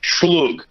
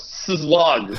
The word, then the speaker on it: szlug: Even the most simple shit, like schlug, is like the super slang term for cigarette, but it's S-Z-L-U-G. So people are like, what's slug? Like, schlug.